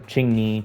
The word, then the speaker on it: Qingyi: So, or Qingyi, Qingshui, I always say it wrong.